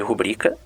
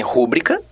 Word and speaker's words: rubrica: Há muita confusão com determinados vocábulos e sua pronúncia, como é o caso de rubrica, que muitos leem rúbrica, ou ávaro, que muitos leem avaro, ruim, que volta e meia se diz ruim.